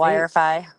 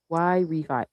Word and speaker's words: Yrefy: What how did she say wifi wifi y refi? It's supposed to be y refinance.